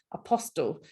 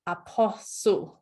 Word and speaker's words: apostle: Pronunciation of apostle was announced as or pronounced as apostle. It should actually be apostle. So apostle, that's how it's pronounced.